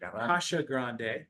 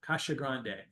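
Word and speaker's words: Casagrande: having last night um so Eloy Kasha Grande Kasha Grande that's how he pronounced it's true yeah we want to say we want to be respectful Kasha Grande excellent drummer Superior drummer um and I do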